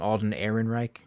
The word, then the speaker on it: Alden Ehrenreich: sculpt of uh i think is how to pronounce his name alden ehrenreich you got it all right good um sculpt's